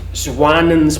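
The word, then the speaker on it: Jouanin: This The name is Swanen's petrel. It's spelled with a J but it's French.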